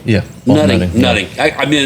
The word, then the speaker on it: Nutting: Yeah, Nutting.